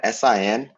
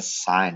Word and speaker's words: sin: going to be used when i write s-i-n you're pronouncing a sign you're not saying sin it's sign c o